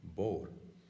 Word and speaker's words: bóthar: Take, for example, the word, how many people would say it, bóthar, two syllables. In Connacht, it's very, very common to find the pronunciation bór.